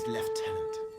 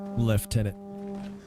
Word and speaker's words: lieutenant: I, Vanson Constantine, have assumed command and have designated Tomar Flegov as left tenant. Left tenant. Forgot how British everything is. Left tenant.